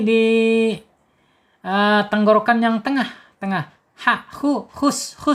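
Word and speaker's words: حُسْنًا: Ha, hus, awas jangan terlalu naik, jangan khus ya. Kalau khus dipakai kha dia.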